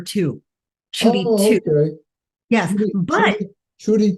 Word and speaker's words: Tiu: and it's uh actually people can just say to make it even easier just the number two chy okay yes but